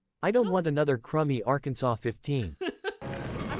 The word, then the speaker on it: Arkansas: the meme so there Kansas and Arkansas but Arkansa is spelled like Aransas so why is it not called Aransas explain explain no you will have your ass kicked if you call it AR Kanas and here's another one